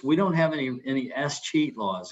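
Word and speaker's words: escheat: and in texas we don't have any any s cheat laws it's spelled e-s-c-h-e-a-t in many states if we can't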